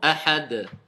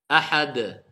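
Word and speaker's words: أحد: Pareil, le del, ça fait partie des lettres al-qalqala qu'on doit faire rebondir quelque part, une certaine résonance. Qul huwallahu ahad, ahad. Voilà pourquoi on dit ahad.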